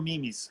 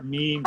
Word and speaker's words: meme: I used to go memes, and she'd be like, they're memes.